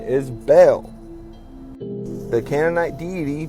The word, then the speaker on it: Baal: As you can see pronunciation right here again syllable like the word bell or bail.